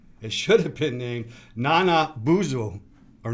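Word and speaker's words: Nanabozho: It should have been named Nana Buzo or Nana Buzo. Yes, you're going for the right pronunciation.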